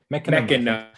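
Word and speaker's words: Mecanum: At least in my side, I can never pronounce this. I'm terrible with these names. Mechatron, Mechanum, what? Wait. Mechanum.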